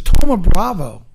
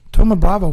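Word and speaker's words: Thoma Bravo: yes yes okay I had a hard time pronouncing this but it's Toma Bravo Toma Bravo for $1.3 billion blue coat was bought by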